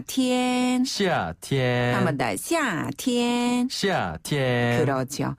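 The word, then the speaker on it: 夏天: 아래로 뚝 떨어지는 의미인데요 여름 하자를 중국어로는 시아라고 발음해서 시티엔 시티엔 한번다 시티엔 시티엔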